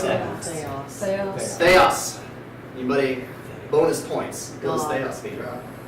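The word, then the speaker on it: θεός: How do you pronounce that? Theos.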